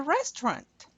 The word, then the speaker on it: restaurant: let's go to the restaurant. Okay, en français, restaurant. You do not pronounce that T.